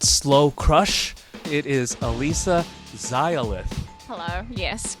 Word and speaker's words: Xayalith: I'm like, my last name is pronounced Zilith, and it's a LA word for victory.